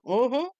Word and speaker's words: uh-huh: Uhhuh. With the accent on the last syllable.